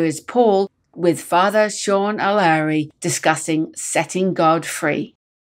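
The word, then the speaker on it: O'Laoire: very important title setting God free with Sean O'Leary Sean how do I pronounce your last name correctly because it's spelled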